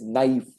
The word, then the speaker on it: knife: teacher comes and says knife and we say what is knife and where what is that K doing there? Then she says no K is silent.